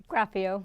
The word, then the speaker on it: Graffeo: This gorgeous young lady, this is April Lynn Graffeo. Is that how you say it? Graffeo.